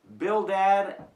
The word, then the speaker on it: Bildad: Okay, the friends, Eliphaz, Bildad, and Zophar. At least that's the way I pronounce them.